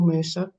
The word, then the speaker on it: MRSA: um trying to overcome MRSA or Mera as some people pronounce it um you know that